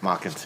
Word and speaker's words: Mockins: Is that how it's pronounced, Mockins? Mockins, yeah. All right, sorry Joe about Mockins that.